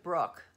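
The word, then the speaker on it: Brouk: even better she's amazing her last name is pronounced Brooke but his B ro UK so feel free to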